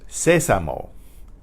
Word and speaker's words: sésamo: It's sésamo. Sésamo. Sésamo. That's S-E-S-A-M-O with an accent on the first E, or on the only E.